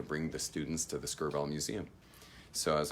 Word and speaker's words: Skirball: gosh my shirts untucked Skirball two syllables Skirball so they created this